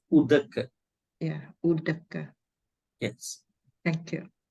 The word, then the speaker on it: udaka: They put it Odak, but the way that we pronounce is Udaka.